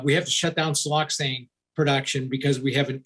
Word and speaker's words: siloxane: you talk about here uh i think it's siloxane is am i pronouncing that right siel yep no you're pronouncing